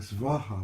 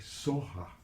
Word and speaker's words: Svaha: The Tibetans, instead of saying Svaha, which is a Sanskrit pronunciation, Tibetans a little softer. They say Soha. They don't have that hard, sharp V pronunciation. You can do it either way.